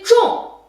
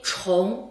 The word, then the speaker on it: 重: 它呢有 2 个读音，bersi 重 bersi 虫啊，重和虫 2 个啊。